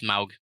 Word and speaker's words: Smaug: promote the movie Stephen Colbert got to interview smog smog there's actually a bit about how his name is actually pronounced Smaug in the bit by the way um with